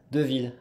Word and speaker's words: Deville: How do I pronounce the L's? That's what I always have trouble with. I can't even do it. Deville. Yeah, you've got it. Yeah, I thought it was a softer L.